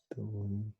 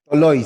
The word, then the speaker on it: Toloi: Taliq, Toriq. Le joueur en question, c'est Raphaël Toloi. Toloi, c'est ça, exactement. Toloi. Il était proche quand il disait Toriq, Tozo. Ouais, c'est ça, Toloi, j'ai Il jamais connaît le prononcé joueur, ça.